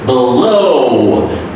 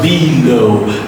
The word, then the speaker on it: below: Below, beautiful. It's not below. Don't make two parts of the word.